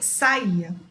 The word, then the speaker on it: saía: Uma é saia e a outra é saía. Então, reparem que são duas pronúncias diferentes. Saia e saía.